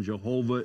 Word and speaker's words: Jehovah: the vowel sounds but yahweh is the one pronunciation jehovah is another pronunciation the translation i am